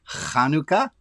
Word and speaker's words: Hanukkah: And the word Hanukkah I want to talk about, if you say it properly, it's got that little at the beginning.